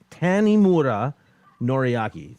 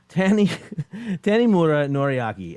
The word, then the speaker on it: Tanimura Noriaki: Hit me up later, but it's I just said it's Tanimura Noriaki. See, I said it wrong the first time anyway. So thank you, Alex. Tanimura Noriaki, and that's him right there.